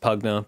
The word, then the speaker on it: PVGNA: That is PVGNA, pronounced Pugna because it's like a Dota hero.